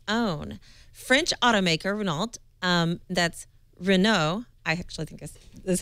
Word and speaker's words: Renault: French automaker Renault, that's Renault, I actually think this is how you say